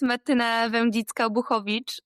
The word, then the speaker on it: Martyna Wędzicka: So my name is Martyna Wędzicka, and it's a full Polish name.